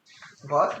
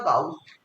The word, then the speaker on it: Gauss: আর একটা আছে যেটা নোন অ্যাজ হচ্ছে ওই আর একটা হচ্ছে গস টেস্ট, গস বা গাউস, বিভিন্ন জন বিভিন্ন রকম উচ্চারণ করে। গাউস টেস্টও বলতে পারিস, গস টেস্টও বলতে পারিস।